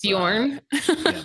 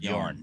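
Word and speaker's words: Björn: It's Bjorn. Bjorn. Yeah. It's Bjorn. It's a silent J, like Utenheim or kind of like it's pronounced more like a Y then.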